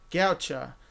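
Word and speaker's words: Godchaux: Gaucho. That's how you say it.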